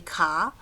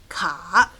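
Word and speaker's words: 卡: So we picked ka. 3rd tone, down, up. Ka.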